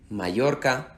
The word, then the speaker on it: Mallorca: is perfectly understood if whenever you see the double LL, you use the pronunciation of the Y, whatever you want to use.